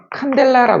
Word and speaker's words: 칸델라: 이걸 뭐라고 읽냐면 칸델라라 그래요.